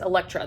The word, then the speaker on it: Elektra: next book i picked up was jennifer saints elektra yes elektra that's how you say it um this is